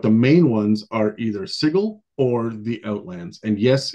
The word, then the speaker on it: Sigil: and yes it's pronounced sigle I'll touch on that in a second um this something that I learned like earlier this week and I've been calling it sigil for years but apparently that's wrong so anyways little background